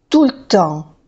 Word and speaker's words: tout le temps: Si se pronuncia tampoco hay gente que lo pronuncia, pero en general no se pronuncia, ¿eh?